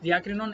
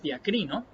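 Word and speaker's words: διακρίνω: Fernando Casanova nos dice, la palabra discernir, griega original, es la palabra diakrinon, que por cierto no es diakrinon, es diacrino, solamente para hacer la corrección de la pronunciación.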